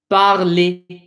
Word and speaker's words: parler: Anything that ends in an ER, that ER is pronounced as, think about it, how do we say it? Et. Parler.